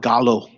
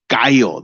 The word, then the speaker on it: gallo: you can't call it Gallo we all know we we own it I'm not calling it Gallo I'm calling it guyo that's Spanish for rooster spelled the same so it's ours and